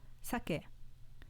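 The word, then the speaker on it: 鮭: kaki kaki example four sake meaning salmon was an accent on the first mora sake meaning alcohol with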